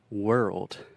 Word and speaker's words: world: So the word world. Então a palavra mundo. This is difficult because we have the R sound, were, and we also have that tricky RL combination that can be really difficult for Brazilians.